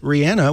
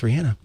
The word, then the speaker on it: Rihanna: that much and you like her enough to pronounce it Rihanna which is the real way her name is